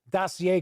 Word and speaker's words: dossier: See, I can pronounce dossier correctly.